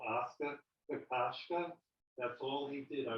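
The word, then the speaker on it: Kokoschka: How do you pronounce it? Oscar. Kakashka.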